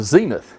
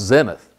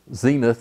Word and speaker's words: zenith: ever rise or set they're always up the Zenith here are some points that should be pronounced Zenith and the this is an Arabic term like